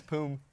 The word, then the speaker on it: Poom: Your old teammate Poon just started his first. Did I say it wrong? What is it? How do you say it? It's Poom. Poom? Poom. I'm dyslexic. My M looks like an N.